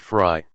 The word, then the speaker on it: Frey: Officer Frey, pronounced Fry, had just turned 23.